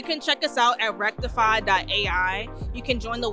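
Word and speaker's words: Rektify: info@ rectify doai and rectify is spelled r e KT ify kind of like wreck and crypto like you have a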